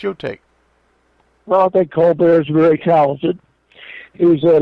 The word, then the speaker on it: Colbert: to pronounce his name he used to be cobra evidently is what the tale comes out of the carolinas but when he got some money he insisted the family call himself colbert it's sort of like